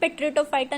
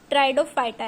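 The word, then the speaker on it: Pteridophyta: सबसे मेन बात यहां पे पी आ रहा है पी टी ई। तो यह पेट्रिडोफाइटा नहीं है। ट्राइडोफाइटा है। थाइलोफाइटा ब्रायोफाइटा टेट्राडोफाइटा इसमें पी साइलेंट है।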